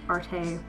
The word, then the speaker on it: Arte: Craft Arte. It's actually pronounced art, it looks like arte.